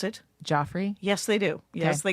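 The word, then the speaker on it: Geoffrey's: It's called Jeffrey's, but they Okay. pronounce it. Joffrey.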